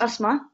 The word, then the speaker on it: Asma: So my name is Asma, and I will start by saying that I'll take your breath away. And on that note, it's not pronounced like the condition. It's actually asthma.